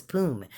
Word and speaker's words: Poom: and his name was Poom. And it's like with a P as in Paul, but and it's Pume is how I spelled it, but it's pronounced like poom, like boom, like POOM.